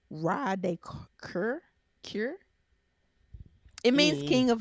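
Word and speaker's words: Roi de Cœur: It's pronounced Ra de Cure.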